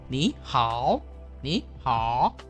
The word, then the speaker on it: 你好: Ni nada 3, hao nada 3. Berarti kita baca adalah ni hao, ya. Ni-nya nada 2, tapi hao-nya tetap nada 3, ya.